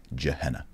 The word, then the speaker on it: Gehenna: of the children and gehenna sometimes pronounced jehenna all right so that's